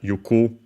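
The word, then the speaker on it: 行く: Iku, unaccented, the verb to go. The alternative form for that, yuku. Yeah, it's straight up simply a different pronunciation, but it's the same technically.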